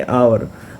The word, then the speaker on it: hour: ठीक है, तो ये जो है एच साइलेंट है, इस वर्ड में एच साइलेंट है, इसको पढ़ेंगे आवर।